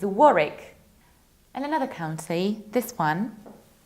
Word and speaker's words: Warwick: It's not Warwick, it's not Warwick, it's Warwick. Warwick, you have to skip middle W.